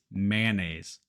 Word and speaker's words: mayonnaise: French for this one it has a bunch of extra letters and it's easier if we just chop them out so instead of looking at it like mayonnaise it's mayonnaise man mayonnaise and just like